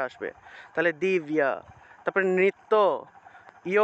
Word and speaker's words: দিব্য: মনে করেন যে দিব্য, বাংলায় বললে দিব্য, কিন্তু সংস্কৃত উচ্চারণটা হবে দিব্যা, দিব্যা, এইভাবে ইয় উচ্চারণটা আসবে, জফলার পরিবর্তে ইয় উচ্চারণটা আসবে, তাহলে দিব্যা।